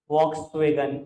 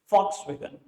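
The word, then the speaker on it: Volkswagen: ठीक है जी सर, लिखते हैं वॉक्सवैगन, बोलते नहीं है। एड सुन लेना, चाहे कान लगा के सुन लेना, वो बोलते हैं फॉक्सवैगन। जर्मन कंपनी है, जर्मन में वी को एफ प्रोनाउंस करते हैं, फॉक्सवैगन।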